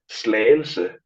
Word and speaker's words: Slagelse: Slagelse.